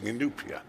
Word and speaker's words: Inupiat: it's obviously easier for you because you keep mispronouncing Inupiat you know words do matter the just then